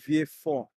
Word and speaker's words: Vieux-Fort: I'm located in the south of the island, in a place called Vieux-Fort. That's the way it's pronounced. It's French. So all of the constituencies in my country, they're French.